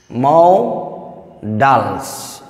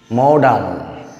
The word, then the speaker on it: modal: Students, today I am discussing about the new topic, Mao Dals. This is the correct pronunciation is modal.